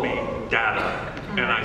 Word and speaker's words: Data: And Gene, at that point, made a ruling that whoever says any of the words on the show first, that's the way it's pronounced. And so that's how I became Data.